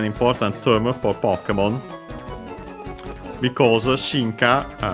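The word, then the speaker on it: 進化: Because shinka is a Chinese compound, accent on the first mora, yes, it is.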